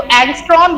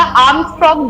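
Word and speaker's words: ångström: तो एंगस्ट्रॉम या आर्मस्ट्रॉन्ग दोनों ही इसको प्रोनाउंस हम करते हैं, ANG मैं लिख देती हूँ, ठीक है।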